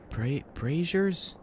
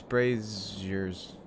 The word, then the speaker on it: brazier: Braziers? How is that pronounced? I must ask Siri. How do you pronounce braziers?